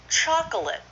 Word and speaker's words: chocolate: Okay, so it's 2 syllables. Chocolate.